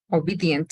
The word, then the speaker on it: obedient: En la cuarta, obedient, aquí son 4 sílabas. O is one, be, end, obedient, 4 syllables. Y se estresa la segunda sílaba, ¿sí?